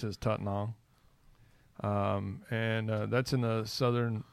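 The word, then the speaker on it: Tettnang: tetenal a lot of people would call it they detonate that's yeah but the way they pronounce is taught now and that's in the southern it's close to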